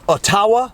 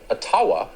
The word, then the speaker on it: Ottawa: other liberal government controversies ottawa or as tucker carlson pronounces it otawa so the question is what's the capital of canada for the record it's a place called atawa atawa the tawa the liberal minority